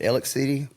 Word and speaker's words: Alexander City: And so he's from Alexander City, but we pronounce it Alex City for some strange reason.